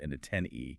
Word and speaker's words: antennae: We all know the singular, but the plural ending in a that is pronounced antennae, but you only use the antennae pronunciation when you're talking